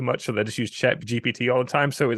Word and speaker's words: ChatGPT: I actually had a friend that actually made his Tinder profile off of Chat GTP. Yeah. Yeah. ChatGPT. Yeah, I said it wrong.